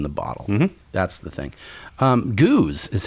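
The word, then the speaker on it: gueuze: beer Goose so not keys right I thought geese gays yes g-o-oz is the closest way I would say how to pronounce it okay a Goose goose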